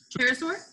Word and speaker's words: pterosaur: Instead, they belong to a group of known as Tesaurus, or help me out on the pronunciation of that. That is Pterosaur?